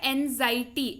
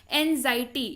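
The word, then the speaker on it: anxiety: करने का तरीका है एंजायटी एंजायटी नहीं पड़ते हैं इसको एंग्जाइटी इसका मतलब होता है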